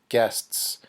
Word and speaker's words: guests: with this word guests guests say it with me guests guests these three letters can be difficult to pronounce remember guest means visitor